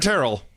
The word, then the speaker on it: Terrell: For Taryn Terrell, because it rhymes with hotter than hell.